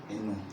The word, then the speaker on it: Eno: There's a nasal accent. So Eno, it will be E-N-O. But then the O needs a nasalization.